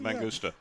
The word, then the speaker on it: Mangusta: That is a Mangusta. Did I say it right? Mangusta.